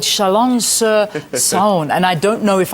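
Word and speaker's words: Chalon-sur-Saône: Yeah, we're in a little town called Chalon sur Saòne.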